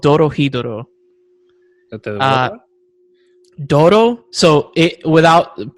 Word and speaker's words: Dorohedoro: show is weird it's called doro hiduro uh dodo so it without pronouncing like my like uh my a weeb